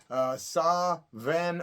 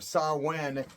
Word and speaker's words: Samhain: It's really not the correct pronunciation. Sa-ven or Sa-wen is how it's really pronounced.